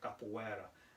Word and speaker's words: capoeira: tekken called is called so i use the proper brazilian uh pronunciation right capoeira and um basically what